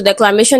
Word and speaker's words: declamation: So declamation is stressed on May. So that is the syllable before t.